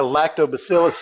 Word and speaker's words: lactobacillus: But the truth is like a lactobacillus infection if you get that it hasn't heard pardon me it hasn't heard anything yet.